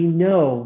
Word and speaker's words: know: And, told me that know is actually no, right? You don't pronounce the N, you don't pronounce the K, right?